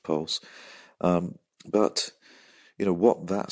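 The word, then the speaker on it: PVLSE: LSE I am making a while sumption it's pronounced pulse but you know what that system does is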